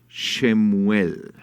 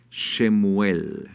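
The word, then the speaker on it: שמואל: libro segundo de Samuel Cómo se dice Samuel en hebreo se dice shemuel shemuel shemuel sí Qué significa shuel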